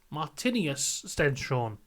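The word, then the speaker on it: Martinius Stenshorne: Alex Dunn and uh martinus Stena martinus Stena that's how you pronounce his name those are two former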